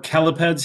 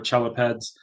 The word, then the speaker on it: chelipeds: the term chelae or chelipeds here, CH is always that K sound. You're not going to get kicked out of the club if you say chelae or chelipeds.